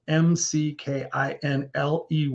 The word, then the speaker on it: McKinley: is McKinley inspiration your last name is spelled m-c-k-i-n-l-e-y so McKinley go check them out